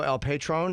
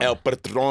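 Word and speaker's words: El Patrón: Is you are fighting Alberto El Patron? Is that how you say his name or Patron? Patron. El Patron.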